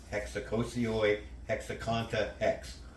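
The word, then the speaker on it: ἑξακόσιοι ἑξήκοντα ἕξ: And according to what I looked up, it says that's pronounced hexacosioi, hexaconta, hex.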